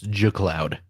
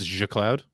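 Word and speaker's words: G Cloud: the cloud Cloud exactly the Creator says it's ju Cloud yeah because the because the G stands for graphics so it's Aja Cloud exactly right you understand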